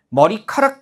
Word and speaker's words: 머리카락: 근데 둘이 결합하면 머리 카락이 돼요. 보세요. 우리 기억이 키극으로 발음되려면 기억에다 뭐가 덧붙어야 돼요? 히이 덧붙어야만 예사소리 우리 기억 디귿 비읍 지에 히이 덧붙으면 거센 소리로 발음되잖아요.